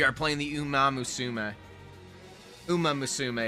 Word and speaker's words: Uma Musume: Uma Musume is the technically right pronunciation, but I like pronouncing it wrong because it sounds better.